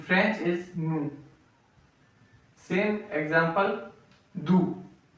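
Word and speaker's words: doux: Same example do d o u x. So here x is silent do.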